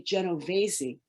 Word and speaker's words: Genovese: Olivia said, "Well, we'd say Genovese."